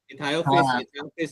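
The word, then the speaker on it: Ichthyophis: पढ़ो, वापस बोलो, नाम पढ़ो, लिखो, बोलो, स्पेलिंग बोलो. ICHTHO. इथायोफिस जो है ना, वो सिसिलियन है आपका.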